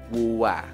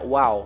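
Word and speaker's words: วัว: Dibacanya wuwa, wuwa. Ya, ini unik ya bentuknya ya. Hati-hati, jangan dibaca wow ya, tapi dibaca kan wowen dengan mehanekat sama wowen juga ya.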